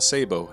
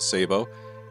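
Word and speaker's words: sabot: what we call a sabo i know it's got other pronunciations but we call it a sabo and now we have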